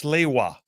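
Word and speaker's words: Sliwa: Uh, Stephen from Athens says, "By the way, Phil, it's Slaywa." Okay. Am I saying it wrong? Curtis Siwa.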